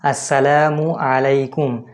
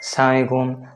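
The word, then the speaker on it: السلام عليكم: তো এটা সঠিক উচ্চারণ আসসালামু আলাইকুম। অনেকে সালাম দেয় রানিং অবস্থাতে, যে সালামালাইকুম, আসসালামু আলাইকুম, আসসালামু আলাইকুম।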